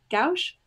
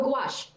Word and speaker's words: gouache: bought a a palette of i'm going to pronounce it incorrectly because i cannot remember uh gauge no gouache that wash so i just bought a palette